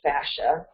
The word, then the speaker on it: fascia: That's normally pronounced fascia.